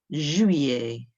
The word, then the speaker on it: juillet: Then there's a tricky one of juillet. Remember that double L in the middle, sounding a bit like a Y? Juillet, juillet, juillet. 3.